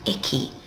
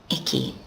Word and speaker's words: 駅: That's pronounced eki, eki, and there it is.